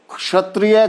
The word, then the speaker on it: क्षत्रिय: यह एक संयुक्त वर्ण है और क्ष का उच्चारण अक्सर लोग छ च छ के रूप में करते हैं। क्षत्रिय को लोग क्षत्रिय बोलेंगे,